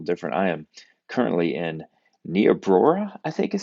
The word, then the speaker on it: Niobrara: I am currently in Niobrara, I think is how you say it, Nebraska, with a group of pastors and with Compassion International.